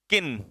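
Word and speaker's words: kiln: Next अगला, अगला है इसमें ऑप्शन किन। इसमें एल बेटा साइलेंट रहता है, ध्यान रखना, ये एल साइलेंट रहता है, तो इसे हम लोग क्या पढ़ेंगे, किन।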